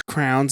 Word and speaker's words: crayon: It's crowns. It's not crayons. It's not crayons. It's crowns. You call them crowns. You get a box of crowns. I can't. That's so special. I need a minute. Crayon. How do you say it? Crayons. It's CRAYON. Crayon.